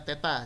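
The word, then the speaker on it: θ: Sudutnya theta. Jadi itu yang ada bentuk O dicoret itu bacanya theta ya.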